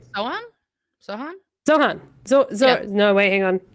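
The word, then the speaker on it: Zohran: it was I don't know if I'm pronouncing it right. Zohan or it was Zoran. One of the two. I'm so sorry. Zoran.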